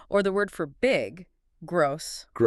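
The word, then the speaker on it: groß: Gross. Gross. So whenever I see that weird B, I just need to think snake.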